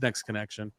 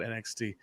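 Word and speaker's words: NXT Connection: the website it's uh it's spelled that way but it's next connection i always i always call it nxt um that's fine too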